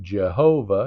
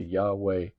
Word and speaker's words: Yahweh: a y right so we ended up with Jehovah instead of Yahweh I know that's a big difference to us to our ear but also we we've gone from gyra we're we're going from gyro back to Yahweh Y.